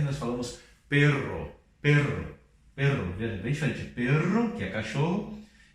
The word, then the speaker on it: perro: Pero e perro, ok? Então, quando nós temos dois R's no meio da palavra, nós chamamos de R fuerte e nós pronunciamos assim, perro, ok?